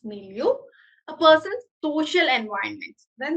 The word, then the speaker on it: milieu: I think it's milieu. Yeah, it's milieu.